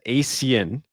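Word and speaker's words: ASEAN: They wanted me to say it properly so I said asen cup or championship that happened at the end of last year into the beginning of this year.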